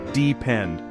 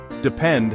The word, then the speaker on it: depend: The stress is on the final syllable. Depend. One more time. Great. Depend has a useful word family.